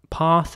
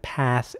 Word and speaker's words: path: the the a again the letter a and it's usually pronounced like an A in this word so path in British English and path in American English here's an example for